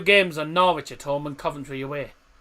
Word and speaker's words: Norwich: Because our final 2 games are Norwich at home and Coventry away.